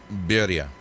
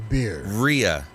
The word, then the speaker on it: birria: can't say that barrassa what did you say berria berry uh barrier where no beer beer uh you need another beer ria rhea so it's ria beer like oh i'm getting drunk and diarrhea rhea oh beer so i want i